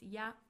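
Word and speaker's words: や: It means and and it is pronounced as y.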